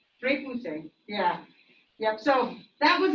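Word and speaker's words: repoussé: Repousse, which is the French term for hammering from the inside and pushing the design outward. How do you pronounce it again? Repousse. Repousse, yeah.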